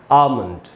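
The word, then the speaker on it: almond: इसका मीनिंग है कि हमको आ पर ही ज़्यादा देर तक रुकना है और हम इसको बोलेंगे आमंड, आमंड।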